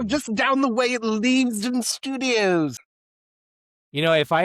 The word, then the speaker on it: Leavesden: time in this instance Leven Leven Levesen Studios in England. I'm not sure if I'm pronouncing that right. Probably because it's the British's poor way of speaking so they name things weird. No, darling. It's Leavesden. Leaves. Of course. Leaves.